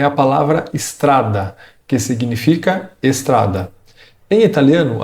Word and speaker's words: strada: Você deve soltar o som da letra S diretamente. Strada.